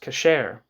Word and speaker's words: kasher: In English, kosher, from the Ashkenazi pronunciation of the term that in Sephardi or modern Hebrew is pronounced kasher, meaning, quote, fit, end quote.